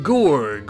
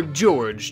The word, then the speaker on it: Gorg: And we shall also be giving him a new name, Gorg, or George, just depending on how you want to pronounce it, I suppose. Either one's fine.